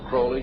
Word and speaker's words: Crowley: be have his name pronounced Crowley to rhyme with holy and the satanists today